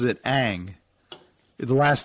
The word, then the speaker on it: Ng: to pronounce she but her preferred pronunciation is ang so that's how she pronounces it kim aang but i've